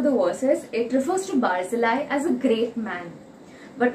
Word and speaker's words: Barzillai: person is by called by the name of barzillai or the typical hebrew pronunciation of it is barzilla he now i am more comfortable saying barzillai so throughout my sermon i'll be referring to